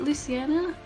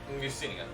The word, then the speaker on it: Lucinia: Wait, how do you say it, Luciana? I can't say it. No. Lucinia. Lucinia.